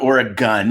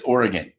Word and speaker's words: Oregon: live here I'm sorry it's not Oregon it's Oregon I think you should